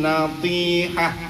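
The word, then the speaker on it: النطيحة: Kalau kita berhenti pada tak marbutoh maka jangan dibaca tak, tapi dibacanya ha. Wan natihah, tadinya natihatu.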